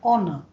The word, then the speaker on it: honor: H is silent, an honor to our country.